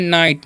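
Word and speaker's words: knee: और यहाँ पर लिखा हुआ है नाइट, नाइट मतलब क्या होता है सामंत होता है, क्या होता है सामंत, नाइट मतलब सामंत।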